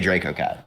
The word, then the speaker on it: DracoCatt: I guess it's just the pronunciation of the A that changes. So, but I say DracoCatt.